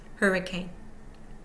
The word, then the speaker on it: hurricane: Parable one2 over hurricane primary stress on the first syllable secondary stress on the last syllable and the middle syllable contains no stress unstressed hurricane hurricane 2011 inexact that